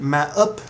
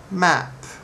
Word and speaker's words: map: no there right map we don't need M up no just map cat map have one more time